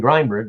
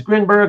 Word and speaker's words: Grinberg: can do it even though it sounds weird to me because I'm so used to saying Grindberg, but uh yeah, thank you Aranga again. Uh I always prefer to get it right and and say it correctly out of respect.